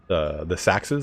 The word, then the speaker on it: sax: be smelting these the Sachs's it's ax right it's pronounced Sachs because it's what's ax it's what Saxon is derivative of it just slightly